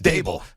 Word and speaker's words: Daboll: And it is Daboll. Not Daboll. Brian Daboll. Like Fable. It's interesting. Table. One of the things, exactly. One of the things that both Joe Shane and Brian Daboll, the new head coach